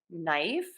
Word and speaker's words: knife: just going to say that n so k-n-n knife GNN gnome and PN in pneumonia so a lot of silent letters here for that n Sound and then